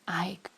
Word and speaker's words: Ach: the name of ACH which is pronounced Ike and it's dutch for Oak when before his neighbors